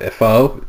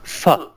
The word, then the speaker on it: pho: I don't know how pho it's what it looks like pho but they say it's fun but maybe it is fun number eight is Thailand